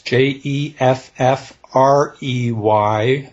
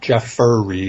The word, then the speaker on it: Jeffrey: my first name correctly everybody wants to turn it into three syllables it's not jeff furry it's jeffrey round dot com and uh